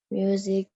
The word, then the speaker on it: music: What kind of music do you listen to? Yes, very good, betul. Music, pengucapannya sudah betul. Well done. Jadi bacanya ada bunyi huruf Y dan huruf S-nya bunyinya jadi Z.